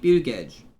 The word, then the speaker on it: Buttigieg: Was it Pete Buttigieg? It's Pete Buttigieg. It's Pete Hesketh is or I don't know how to pronounce his name.